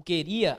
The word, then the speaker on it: queria: Na verdade, o item D, o queria, a sílaba tônica é lá no final, né?